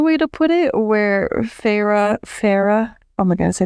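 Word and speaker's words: Feyre: to practice that like Farah faca no I think it's Farah well that's yeah if you like she made fun of her sister for draging you know both syllables of her name she was like farra but she helped me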